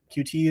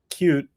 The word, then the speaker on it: Qt: didn't know anything about um cute or QT as some people say. I say both it just to annoy everyone. I So, I tend to say cute now to someone who doesn't know that's how it's pronounced.